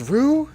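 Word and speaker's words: る: Oh, it's ru not row.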